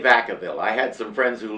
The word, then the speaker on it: Vacaville: The locals say Vacaville.